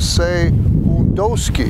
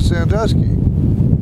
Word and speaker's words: Sandusky: Now, for the Hurons and the Wyandots, they pronounce it a little differently. It was a Sandusky, but we pronounce it Sandusky.